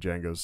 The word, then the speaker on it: Django: And Django's sitting at the bar smoking. He goes, "Django." He's like, "Can you spell it?" And he spells it out for me. He goes, "The D's silent."